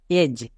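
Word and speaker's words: edge: এর উচ্চারণ ব্রিজ next এজ এখানেও দেখো ডি টা সাইলেন্ট কেন কারণ জি এর আগে কে আছে ডি আছে জি এর আগে ডি থাকার জন্য ডি এর উচ্চারণ হবে না মানে ডিটা সাইলেন্ট থাকবে তাহলে ইজি এজ ডি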